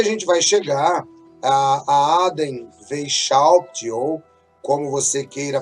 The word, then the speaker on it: Weishaupt: E aí a gente vai chegar a Aden Weishaupt, ou como você queira pronunciar, o Weishaupt, e assim nós chegamos à maçonaria moderna.